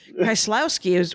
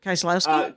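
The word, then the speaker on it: Kieślowski: Kieslowski? Kieslowski is what I say it. Kieslowski. Yeah. But Kieslowski would be how he would say it if he lived in Wisconsin in the 70s. He'd say Kieslowski.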